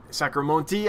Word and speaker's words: sacramontis: So these are Pelvicachromis sacramontis, or wait, Sacramonte, I think the S is silent on the end, you said, Bob, something like that.